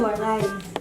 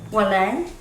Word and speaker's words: Waray: Can you pronounce that word? Waray. Walay. Well, it's Waray. Waray. Walay. Almost.